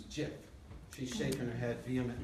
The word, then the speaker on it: GIF: says here actually somewhere soft G like the peanut butter commercial choosy mom's choose jiff she's shaking her head